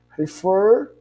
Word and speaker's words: refer: Refer, então a pronúncia do fer é mais forte que o re.